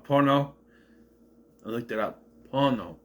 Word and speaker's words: Pono: Pono, this will be. And by the way, he's calling him pono. Pono. Pono. Pono. P O N O. Pono. Not porno. Not porno. Pono.